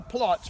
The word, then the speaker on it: Platz: So he's in what is called a Platz, P-L-A-T-Z, Platz.